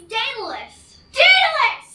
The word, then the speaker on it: Daedalus: with an S and rhymes with hmm rhymes with escalius sort of wait no Pegasus it rhymes with Pegasus no idea I have no idea ridiculous it's Daedalus I mean I hate